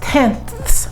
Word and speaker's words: tenths: round to the nearest tenths place tenths th s remember anything after the decimal is pronounced th s tenths place so i'm